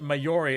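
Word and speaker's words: Māori: And I commented being like, it's pronounced Maori, there's no Y in it, it's 2 syllables, why would you say it like that?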